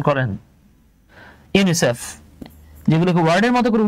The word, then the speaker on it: UNICEF: আপনি কিন্তু কখনোই বলেন না UNICEF, বরং আপনি এটাকে ওয়ার্ডের মতো উচ্চারণ করছেন ইউনিসেফ।